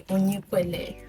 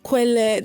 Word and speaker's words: Onyekele: When you say Onyekele. Not Kwele. There's no accent.